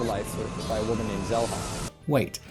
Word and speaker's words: Zelha: Throughout the entire game, her name is pretty clearly pronounced Shella over and over and over again. This Shella Zelha situation had me doubting